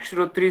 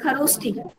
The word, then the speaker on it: खरोष्ठी: Ma'am Brahmi script and श्रोत्री script. Brahmani and खरोष्ठी बेटा, pronunciation is खरोष्ठी।